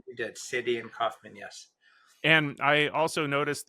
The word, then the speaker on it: Cydian Kauffman: Cydian Kaufman. That's right, you did. Cydian Kaufman.